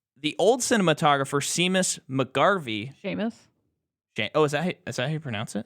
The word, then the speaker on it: Seamus: and then the the old cinematographer Seamus McGarvey Sheamus oh is that is that how you pronounce it how's it spelled uh SEMA it's spelled like Seamus oh yeah Sheamus oh shame okay because of Harry Potter so